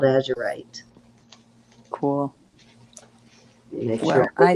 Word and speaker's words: azurite: Terry says ozurite. How do you say that? Turquoise and lapis called Azurite? Azurite. Yes, that's it. Thank you, Azurite.